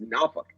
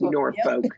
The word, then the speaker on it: Norfolk: Because remember, my mother was from Tidewater, Virginia, and I know that Norfolk is pronounced Norfolk, not just Norfolk, that all the Northerners do.